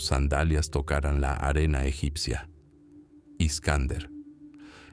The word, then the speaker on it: Iskander: Iskander. Esa era la pronunciación oriental de Alejandro, el joven rey macedonio,